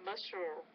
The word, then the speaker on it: muscles: These bats actually launch themselves into the air with powerful pectoral muscles. Don't forget the S sound.